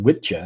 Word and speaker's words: wicca: It's actually pronounced Witcha. It's actually where we get the term witch from, is from Witcha, because it was an old Anglo-Saxon term for, and also witchcraft.